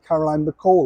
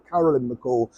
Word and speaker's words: Carolyn McCall: the CEO of ITV Caroline McCall or Carolyn McCall whichever pronunciation you wish to use she had hoped